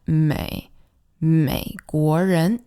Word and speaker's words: 美国人: And the one pronunciation tip here is to always remember to really dip down with that 美国人 Next we hear Japanese people.